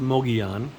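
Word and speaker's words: Mogollon: It's M O G O L L O N, but it's pronounced Moian.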